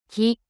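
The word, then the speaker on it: キ: Ki, Ki, The pronunciation of character Ki in Japanese is something like the combination of KEE in English.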